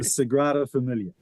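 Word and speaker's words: Sagrada Família: Let's start with pronunciation of that, Ryan. So it's the Sigraa Familiar which is obviously unfamiliar to you.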